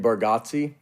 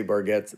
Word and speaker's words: Bargatze: that I knew that Italian I think we say it wrong as a family too I think it's supposed to be bargi and we say barget like it's just we've Southern it up oh I say baratti